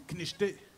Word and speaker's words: Canicheté: Nous autres, on dit Knicheté. Mais ça s'écrit « Canicheté ».